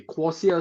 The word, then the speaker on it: Quocia: to to start off right basically what is quasia okay quasia stands for quick social you put the two words together quick and social and you pronounce them very quickly you get quasia okay so that's what